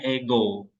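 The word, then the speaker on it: ἐγώ: Nah, makanya suaranya naik, ego.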